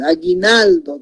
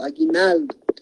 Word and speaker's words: aguinaldo: Aquí sí directamente aguinaldo, ¿no? Entonces no es diptongo porque está la U, no se está pronunciando, aguinaldo.